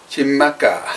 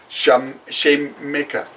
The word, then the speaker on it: Xaymaca: Xaymaca. Jamaica. Because the X, I think, is an SH. Because I remember we went to Ishkaret and it was spelled with an Oh, X. okay. So, Xaymaca.